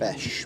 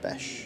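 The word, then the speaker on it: Beche: Prost and, how would you pronounce that? Besch, Matthias Besch.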